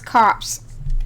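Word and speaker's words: copse: it's how to pronounce cops which is a a Grove of small trees it's spelled c o PS e it's close to corpse but without an r Wait Oh I thought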